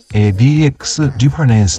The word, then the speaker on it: DX_REF: これの呼び方は、DX リファレンスと言います。